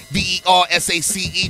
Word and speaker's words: Versace: foot cool to kente v-e-r-s-a-c-e pronounced versace so how you living